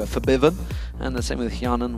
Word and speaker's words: Febiven: for for Biven who we have been told to pronounce it that way by the way if anyone's wondering why we've changed it from febiven to fiven and the same with